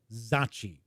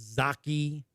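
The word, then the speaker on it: Zocchi: And that is how I've been told it is pronounced. Zachi. And that comes from somebody who knows Lou Zachi. So I know some people said in chat before it's Zaki.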